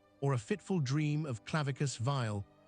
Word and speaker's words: Clavicus Vile: a fitful dream of Clavicus Vile, pronounced Claravikus Val, offering a glittering promise should a wanderer surrender his true name beneath the moon.